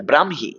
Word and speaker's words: ব্রাহ্মী: শব্দটার উচ্চারণ হচ্ছে এটা, ব্রাহ্মী। কখনো ব্রাহ্মী, কখনো ব্রাক্ষী, এরকম বলবেন না, ব্রাহ্মী লিপি, ব্রাহ্মী লিপি নয়, ব্রাহ্মী লিপি। ব্রাহ্মণবাড়িয়া নয়, ব্রাহ্মণবাড়িয়া, ব্রাহ্মণবাড়িয়া, ব্রাহ্মণ নয়, যুক্তবর্ণ ভাঙলে হ ম, উচ্চারণে ম হ, ব্রাহ্মী লিপি, ব্রাহ্মী লিপি, ঠিক আছে।